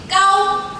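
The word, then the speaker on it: 糕: There are other common dishes, such as rice cake, the Chinese word for cake, gao, pronounced as the word for high.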